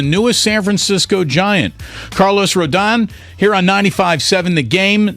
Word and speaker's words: Rodón: Rodón, how do we get it perfect when you start for the Giants? You said it right the first time, Rodón.